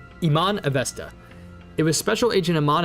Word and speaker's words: Iman Avesta: Iman or Iman, oh wait, no, she said her name earlier. Iman Avesta, that's how you say it. Iman Avesta.